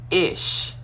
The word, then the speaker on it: ich: first of all so ish you start with ish okay ish i ch e okay e with an i sound e it's more kind